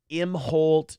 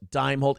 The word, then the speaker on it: Imholt: It does change the pronunciation of our last name slightly, but that's all right. Imholt, Dimeholt. It's close enough.